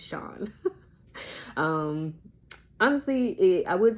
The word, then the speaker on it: Chan: c h n so of course people feel like oh that's Chan and let me be the first to tell you that it's not okay it's Sean um honestly it I